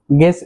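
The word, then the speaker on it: guess: খেয়াল করবেন আমরা যতগুলো শব্দ শিখছি সবগুলো শব্দের মধ্যেই কিন্তু ইউ লেটারটি সাইলেন্ট থাকছে, অর্থাৎ ইউ সাউন্ডটি হচ্ছে না।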